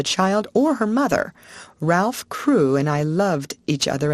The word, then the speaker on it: Crewe: difference in the name Madame Pascal pronounced it as if it were Karu instead of crew but that might be merely a matter of pronunciation the circumstances were curiously